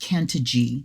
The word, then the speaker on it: Cantigee: lift up is that this is pronounced Kant G the canant G Oracle